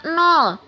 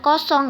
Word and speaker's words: nol: dibaca berapa Hayo Iya itu dibacanya nol bukan kosong ya dalam matematika tidak ada kosong adanya 0bu dan yang